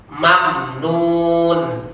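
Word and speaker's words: ممنون: Kemudian ajrun ghairu mamnun. Mamnya tidak boleh lama. Mamnun tidak boleh juga. Mamnun. Ya. Ada membacakan dilamakan, membacanya didengungkannya tidak boleh. Mamnun. Tidak boleh dibaca lama mamnya. Salah jadinya.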